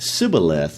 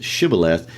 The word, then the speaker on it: Shibboleth: They knew Ephraimites couldn't pronounce the SH sound, so they would pronounce it Sibboleth instead of Shibboleth.